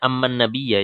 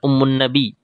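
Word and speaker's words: أمَّ النبيَّ: Membacanya amman nabiyya ya, bukan ummun nabi, tetapi amman nabiyya.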